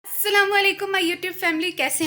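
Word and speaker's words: السلام عليكم: में बता दूं कि अस्सलामुअलैकुम ठीक तरह से प्रोनाउंसिएशन इसकी होनी चाहिए, वरना अस्सलाम वालेकुम इसके जो मीनिंग्स हैं ना वो बदल जाते हैं। तो इसलिए जो है ठीक तरह से प्रॉपर अस्सलामुअलैकुम जो है वो किया करें।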